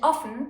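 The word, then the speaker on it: offen: the orphan or can be pronounced long or as in orphan or short ah as in often these particular words are almost identical but often means furnace and often means open this is a perfect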